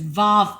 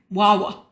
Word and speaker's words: Waw: Well, looking at it, I would pronounce it as Vav, but it's actually Wawa. It's a W sound.